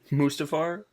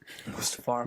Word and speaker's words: Mustafar: Mustafar? Mustafar. Mustafar?